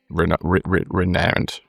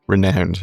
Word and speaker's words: renowned: I've learned how to pronounce renowned. Okay, renowned. It is renowned, isn't it? Renowned. I went my whole life pronouncing it renowned.